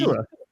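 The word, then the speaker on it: Odighizuwa: It's literally O and then Diggy Odigizua. and then O, Zua. Odigizua.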